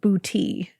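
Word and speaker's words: Boutte: Joseph Brown had grown up in and I looked up the pronunciation of this place in Louisiana and it is pronounced bouty Louisiana.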